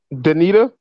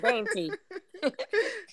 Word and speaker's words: Dainty: How you pronounce my name? Danita? Nah, it's dainty.